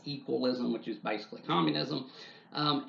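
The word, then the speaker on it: Ekwilism: um who has instituted a social philosophy called equalism and it's spelled e k w i l i s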